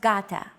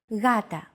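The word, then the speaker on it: γάτα: word Gata meaning cat this is usually romanized with an initial G letter but it is not pronounced Gata the first consonant is softer Gata watching contemporary videos such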